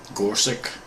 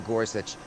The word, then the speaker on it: Gorsuch: How do you pronounce that name? Gorsuch.